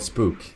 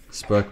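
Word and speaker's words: Spök: It's pronounced Spark. It's not Spook. Spark means ghost. GhostTube.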